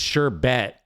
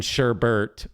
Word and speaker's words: sherbet: There is no R in the BERT part. It's It's sherbet. That's how you actually spelled it. It's never been sherbbert, but for some reason we call it sherbbert.